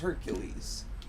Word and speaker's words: Heracles: It's like how Heracles is pronounced Hercules. And if you say Heracles, people are like, what are you talking about? It's like, you know, Hercules. Because it's a Greek name. It's a Greek name. It's Heracles. Not an English name.